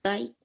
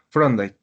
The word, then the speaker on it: Thorndike: Torday.